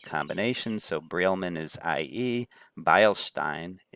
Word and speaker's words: Beilstein: Beilstein, in both of these EI combinations, is pronounced with the I pronunciation.